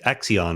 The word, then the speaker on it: Accion: your your company's devoted accion right is that how we pronounce your company's name yes it's it sounds exactly like a particle physics hypothetical Dark Matter candidate so but it's spelled differently right yeah but you say